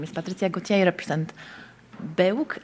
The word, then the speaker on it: BEUC: I say BEUC, but actually our policy is that we can pronounce it in different ways depending on our language. So there are colleagues that say BEUC, BEUC as well in French.